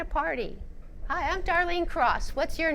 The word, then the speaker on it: Cross: Sometimes when I'm introducing myself and they ask me what my name is, I will say my name is Darlene Cross. Cross like you cross the street.